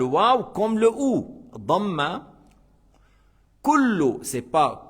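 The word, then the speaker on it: كُلُّ: Kullu, c'est pas kollo, c'est pas c'est pas kullu man alayha fan, kullu man alayha fan, c'est comme ça ressemble à OU, c'est pas O.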